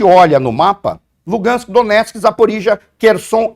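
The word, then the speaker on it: Zaporizhzhia: que os russos falam, eu tenho a impressão que a pronúncia russa é Zaporozhia, tá? Mas Zaporizhia.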